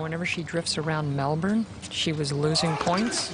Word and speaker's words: Melbourne: Melbourne, but they don't pronounce the R down here. It's Melbourne. Good defense from Djokovic as